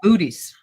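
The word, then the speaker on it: Bootes: It's booties. Yeah, it sounds like more than one booty.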